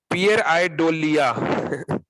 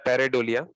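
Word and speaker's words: pareidolia: एक और एग्जांपल जो साइंटिस्ट लोग देते हैं, जिसको बोलते हैं, जो थोड़ा सा प्रोनाउंसिएशन अलग है, पियर आइडोलिया जो कि पढ़ने में लगता है पैरेडोलिया।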